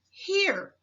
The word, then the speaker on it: here: This word is here. The H in this word sounds exactly as you would expect. It says the ERE in this word is the tricky part of the word. It is pronounced ear.